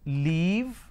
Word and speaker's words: leave: to break this down the first one is Le e ver the second one is so the this e is something where the difference is so here I say e here I say e lot of people make this mistake they interchange they swap it and that's where it leads to a problem so if I have